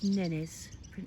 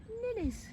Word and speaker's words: nene: In Hawaii they're known as nenes, and that's spelled N-E-N-E. Nenes.